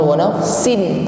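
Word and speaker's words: ونفس: masuk pada huruf waw, bukan wa nafsin tetapi masuk pada huruf waw dengan disertai bunyi dengung. Wa nafsin. Ketika berdengung ini bibir kita sudah dihimpun ke depan karena sudah masuk pada makhraj huruf waw.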